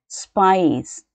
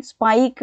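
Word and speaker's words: spice: ಸ್ಪೈಸ್ ನೋಡಿ, ಸ್ಪೈಕ್ ಅಂತ ಹೇಳೋದಿಲ್ಲ ನಾವು, ಸ್ಪೈಸ್ ಅಂತ ಹೇಳ್ತೀವಿ. ಸ ಅಂತಾಯಿತು, ಸಿಯ ಸೌಂಡ್ ಹೇಗೆ, ಕ ಅಂತ ಇರುತ್ತೆ, ಆದರೆ ಇಲ್ಲಿ ನೋಡಿ ನಾವು ಸ್ಪೈಸ್ ಅಂತ ಹೇಳ್ತೀವಿ, ಯಾಕೆಂದರೆ ಇದು ಇಯಿಂದ ಎಂಡ್ ಆಗ್ತಾ ಇದೆ.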